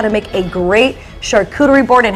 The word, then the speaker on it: charcuterie: And we even know charcuterie is charcuterie. Is that how you say it? Charcuterie, yeah. Charcuterie. Charcuterie. It's French, yeah.